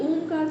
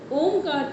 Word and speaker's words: ओम: इसमें समझ में आएगी ओमकार के पूरे गुंजन करने में लिप्स टच नहीं होती ठीक एकमात्र ये ऐसी ध्वनि है।